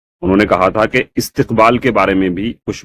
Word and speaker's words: استقبال: اس کا تلفظ جو ہے استقبال ہے، استقبال، اور یہ بھی عربی زبان سے آیا ہوا لفظ ہے، عربی سے اردو میں استعمال ہوتا ہے.